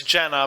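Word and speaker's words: Jannah: character arc and a development for lando and jana or jaina or whatever her name is yeah it's it's it's jenna but i think it's pronunciation yeah i think that this movie as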